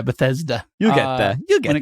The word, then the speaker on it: Bethesda: do you always say you always say it wrong bethsaida song I don't know yeah Bethesda you'll get there when